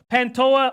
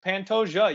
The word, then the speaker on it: Pantoja: damn good but it's Pantoja you actually do pronounce the J on this one Figueredo is a murderous